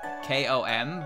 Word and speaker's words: Konpaku: wrong with our language the n followed by a p is pronounced like an m so com yeah konpaku is pronounced like kom but it's spelled with